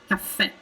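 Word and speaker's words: caffè: hear the difference cafe cafe so in italian we really linger on that f sound because we have two consonants and i would say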